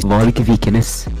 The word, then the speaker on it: Varg Vikernes: Varg Vikernes.